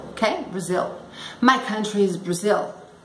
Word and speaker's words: Brazil: É com L, então não é Brasil. Brazil, ok? Brazil.